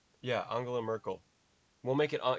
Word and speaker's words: Angela: t-bricks is dutch and it's angela with a soft g angela is it angela or angela i'll say angela no that doesn't ange angela merkel no that doesn't sound right that sounds too american angela merkel maybe welcome